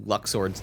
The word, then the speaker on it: Luxord: I've been saying Luxord's name wrong. It's Luxord.